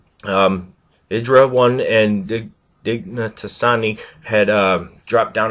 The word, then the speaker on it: IdrA: I was also pronouncing his name incorrectly prior, but I got it right. Idra 1 and Dignatasani had dropped